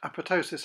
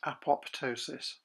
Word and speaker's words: apoptosis: And it also explains why apoptosis is pronounced apoptosis and not apoptosis.